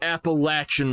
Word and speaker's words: Appalachian: not have Appalachian Mountains it is the Appalachian Mountains people Appalachian like a gate latch notation if you say it